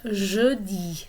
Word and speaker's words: jeudi: And then Thursday we have jeudi. So that sound in the middle is a vowel sound we don't have completely in English.